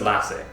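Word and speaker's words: Lasse: to butcher his name lass halstrom or lace hrom um no it's lass lass that's the way it pronounces it at least on on Google yeah and uh he's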